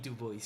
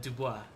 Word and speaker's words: Du Bois: But his last name is French, but he didn't like it when people pronounce it the French way. So it's Dubois. You know, the way you pronounce his name, if you're saying it correctly, it's Dubois. But he insisted, like, you know, I'm an American. please pronounce it like Du Bois.